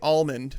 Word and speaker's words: almond: like so L like all is spelled a ll Alice spelled al there's only one L an almond so I've always looked at that word and I thought it was funny I think everybody mispronounces it I'll go along with it's possible it's definitely possible but I'm gonna just